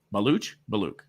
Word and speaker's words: Baluch: Always fear that I'm saying your last name wrong. Belaluch.